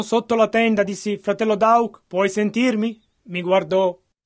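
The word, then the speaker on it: Daugh: Entrai, misi la mano sotto la tenda, dissi, fratello Dauk, puoi sentirmi? Mi guardò. Ora, in realtà, nel suo nome, lui è tedesco, D-A-U-G-H, e io lo pronuncio Dauk.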